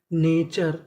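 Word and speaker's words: nature: हमारा अगला नियम यह है कि हम लोग टी यू आर ई को चर पढ़ते हैं। यानी आपको कहीं पर टी यू आर ई लिखा मिले तो हमें चर पढ़ना है।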